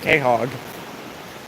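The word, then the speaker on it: quahog: It's a piece of a little uh Khog, which is spelled with a Q, actually.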